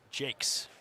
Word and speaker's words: Jacques: says I remember correctly he does not go by the French pronunciation and it's pronounced Jake perfect so thank you